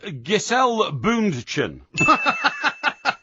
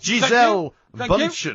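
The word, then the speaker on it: Gisele Bündchen: It's Giselle Bundchen. Thank you. It's Giselle Bundchen, actually. Thank you. Giselle Bundchen is the correct pronunciation.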